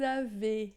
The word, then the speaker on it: avez: Vous avez, esse Z final não pronuncia.